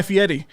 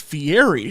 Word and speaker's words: Fieri: but Brown was like let's talk about guy Fetti and Jim's like what it's like what do you it's like it's Fieri it's like that's it's spelled Fier it's like